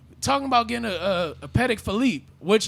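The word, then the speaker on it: Patek Philippe: it's like it's like that's not actually how you say it yeah it's not patek you know they got to say paddock so it could rhyme philippe i i guess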